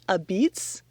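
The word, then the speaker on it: apizza: It's called A Beats. A pizza is how it's spelled.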